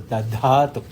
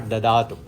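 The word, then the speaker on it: दधातु: So Devaha Suvite, please make sure that you pronounce it as Dadhatu, not Dadatu.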